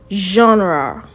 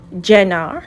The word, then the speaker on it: genre: Now say genre. Genre. It's not general. No, is genre. Okay, let's say it again. Genre.